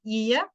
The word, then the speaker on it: ie: And the dress or the shirt that people are wearing, it's called ie. It's I and ye, it's spelled.